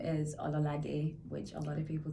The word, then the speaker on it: Ololade: Say it again. Ololade. Aloladi. Lo. Yeah. Ololadi. A at the end. The Ololade. E. Yeah, perfect. Yay! Pronunciation is important. Ololade.